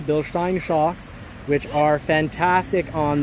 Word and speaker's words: Bilstein: this for sure and it has Bilstein and that is pronounced correctly Bilstein shocks which are fantastic